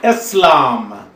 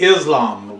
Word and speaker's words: Eslam: in my name is Aslam I mean after the religion please please hold applause Americans normally mispronounce my name they call me Islam whether it's Islam or